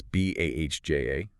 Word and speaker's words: Bahja: That's B-A-H-J-A, pronounced Bahja.